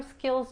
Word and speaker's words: skills: La I es corta y la S al final se pronuncia como una Z. Skills. Skills. Y no se escucha una E antes de la S.